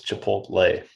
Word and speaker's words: Chipotle: i say chipotle and you got it it's chipotle that's how you say it you know kay